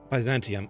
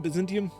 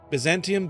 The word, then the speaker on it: Byzantium: I keep that name keeps messing me up. The Baantium. Byzantium. I keep wanting to say Byzantine. Like that's why it keeps messing me up. So whenever every single time I read that and if I I it's a tongue twister for my brain because I keep wanting to say Byzantine Empire.